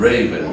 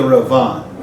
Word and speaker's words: Ravan: The Rabbeinu Gershon, Meir HaGolah and Raven. What does that mean? Oh, so he's the light. He's the light of the exile. Now it's supposed to be the Ravan.